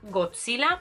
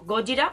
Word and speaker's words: Godzilla: Y también tiene una fuerte referencia a Godzilla o Gojira, como queráis pronunciarlo, por todo el tema, pues evidentemente, de Japón y este ser que tanto han trabajado en su cultura.